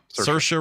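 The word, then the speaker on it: Saoirse: Bill Murray of course say story Ronin Sasha Ronan she plays she just does her straight up Irish accent she's fantastic rhymes with inertia that's right and Claire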